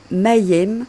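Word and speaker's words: מם: Prononcée Mayem signifie les eaux.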